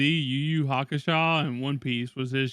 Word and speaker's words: Hakusho: Let's go watch some Yu Yu Hakusho, bruh.